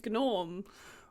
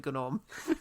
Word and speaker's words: Gnorm: And Norm is spelled also with a silent G. Oh, a gnome named Gnorm.